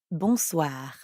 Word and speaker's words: bonsoir: For that, we'd need to say bonsoir. Bonsoir. We already know how to pronounce the first part, bon, because it's the same in bonjour.